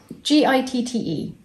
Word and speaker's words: Gitte: Is that how you pronounce that? G-I-T-T-E.